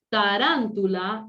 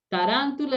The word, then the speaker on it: tarántula: Tarántula, esdrújula, ¿sí? Tarántula es esdrújula.